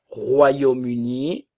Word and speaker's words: Royaume-Uni: Royaume-Uni le Royaume-Uni ok ici nous allons avoir le son ro royum Royaume-Uni liaison Royaume-Uni le Royaume-Uni nationalité britannique